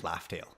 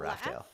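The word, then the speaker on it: Laugh Tale: know that it's actually Laugh-tail. Laugh-tail, not Raftail. Laugh-tail, yeah. Yeah, laugh tail, like a tail Oh, that's funny. they say R because Japanese doesn't have L's.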